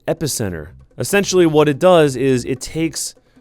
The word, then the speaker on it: Epicenter: This one is called Epic Enter.